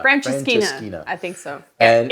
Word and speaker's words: Francesinha: But there's this sandwich called the Francesinha. Francesinha. I think so. And it's spelled weird.